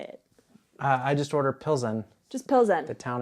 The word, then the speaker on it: Plzeň: I just order Plzeň.